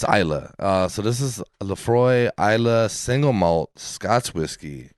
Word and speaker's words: Laphroaig: uh 10 year age laphroaig that's how you say it if you're looking at it right there um it looks a little weird but it is called laphroaig and guys we we